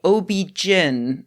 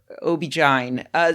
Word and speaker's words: OB-GYN: I learned several things during this recording, like how apparently it's equally correct to say OB-GYN or OB-GYN. So, you can save yourself a few syllables.